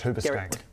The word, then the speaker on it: Huberstank: Garrett or it's pronounced Hubcank.